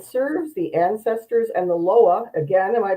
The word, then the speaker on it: Loa: He's a psychic reader, a medium, and serves the ancestors and the Loa. Again, am I pronouncing that correctly?